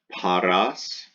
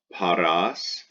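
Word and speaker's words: pastōs: look at number three pas tous pas tous the second a is long before the s it's almost like it's a pointed at you so pas tous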